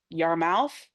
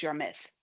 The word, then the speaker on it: Yarmouth: I look at them, they would be like uh like your mouth, but like everybody tells me no, it's your myth. Yarmouth.